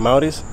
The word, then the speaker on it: Amauris: I'm Maurice.